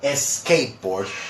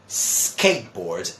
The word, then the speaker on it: skateboard: what they do is they try to add a vowel sound before it so they say s school or a skateboard or s start okay now mind you my dear friends in English we say school skateboard and start so I know one